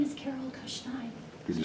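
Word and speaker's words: Kuszniaj: My name is Carol Kushnein, Could you spell it?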